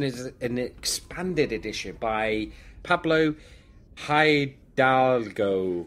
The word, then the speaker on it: Pablo Hidalgo: And this one is updated as an expanded edition by Pablo Hidalgo. Pablo Hidalgo, yeah. That's correct. You, Paul, you are the linguistic of names. I can never pronounce names.